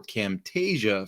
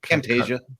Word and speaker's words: Camtasia: we paid for Camtasia for our screen captures was because Camtasia grabs